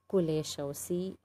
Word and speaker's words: Kuleshov: I am pronouncing it as it actually spells. Okay, Kuleshov, K-U-L-E-S-H-O-V, Kuleshov.